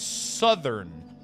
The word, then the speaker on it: southern: say southern but no apparently it's southern so like it broke my brain in half but you know it is what it It just doesn't make any sense that you change the pronunciation of south just because you add three letter at the at the end.